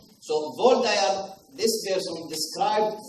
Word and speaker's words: Waldeyer: Henrik von Waldeyer is a German. Okay? That's why the W is pronounced as V. But in American, if you like, they still call him Waldeyer. So Waldeyer, this person described 4 different tonsils in your body.